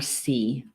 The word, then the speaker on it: torc: So boar in the Gaelic word is torc. They spell it Torc, but it's pronounced torc, according to the pronunciation guide anyway.